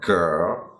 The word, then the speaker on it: girl: Girl.